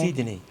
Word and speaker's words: Sidney: a pronúncia, é Sidney.